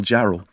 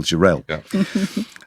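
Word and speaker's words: Jarrell: We learned how to pronounce Randall Jerel about eight years ago and we and we have yet to forget it's not Randall Gerald, it's Randall Jerel.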